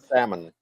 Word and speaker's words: salmon: rushy it's spelled salmon no but the L's silent supposed to be silent salmon salmon so yes I'm dressed